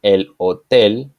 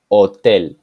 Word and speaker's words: hotel: Z example Jose Jose the letter H is silent in Spanish so when we say El Hotel we don't pronounce the letter H we just start with the letter O Hotel when H and follows